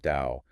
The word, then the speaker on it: Tao: And before we break down the character for Tao, which is pronounced Dao, by the way, let's explain how these characters are actually built.